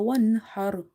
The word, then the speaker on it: وانحر: Ha is from the middle of the throat as it's from the halqiya letters. So in order to pronounce ha from the middle of the throat, you have to open the mouth wide and you have to exhale the air out.